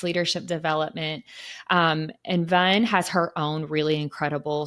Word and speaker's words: Van: Her name is Vun. So it's spelled VAN, but it's pronounced like sun. So Vun.